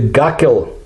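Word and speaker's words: Gakkel: of the arctic called the guckel ridge and that's the russian pronunciation the gakul reach located between greenland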